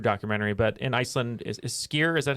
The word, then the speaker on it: skyr: doc uh food documentary but in iceland is skier is that how you pronounce skyr is pretty popular oh yeah we